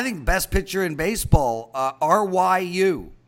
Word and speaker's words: Ryu: best pitcher in baseball Ryu that's how you pronounce it Ryu twelve-and-a-half is the total